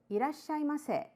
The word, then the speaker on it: irasshaimase: Irashaimase, slightly rising intonation.